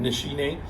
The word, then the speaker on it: Nishine: to keep in mind that's how you pronounce it nishi name and take a look